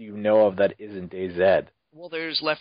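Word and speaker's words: DayZ: that your voice I it is Day Z day Z sorry Day Z ha you said it right damn it Kitty you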